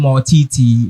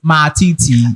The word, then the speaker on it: Matiti: We always pronounce the name Mortiti, but the name is Matiti.